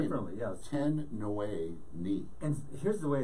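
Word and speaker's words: Tin Nwe Ni: Ten Nui Ni. And here's the way it's spelled, T-I-N space N-W-E space N-I.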